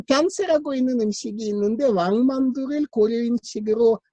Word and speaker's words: 변세: 그 변세라고 있는 음식이 있는데 왕만두를 고려인식으로 병모시킨 겁니다. 그 변세라는 말은 한국말이 없어요. 러시아 말에도 없고. 변세는 뭐냐면은 편수라는 조선말을 육진반원식으로 발음하는.